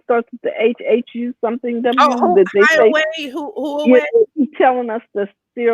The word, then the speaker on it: Huawei: Carla says it's pronounced Huawei.